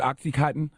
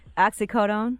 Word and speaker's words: oxycodone: someone with a high you pronounce it oxy cotton oxy codeine I pronounce it oxycodone oxycodone if you're providing